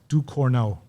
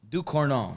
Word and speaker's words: Ducournau: So yeah, and let me just say her name properly. Her name is Julia Ducournau. Ducournau. Yeah. Ducournau. Yep. Okay.